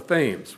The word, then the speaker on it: Thames: whaling ship called the Thames which is how they pronounce it in Connecticut she is the only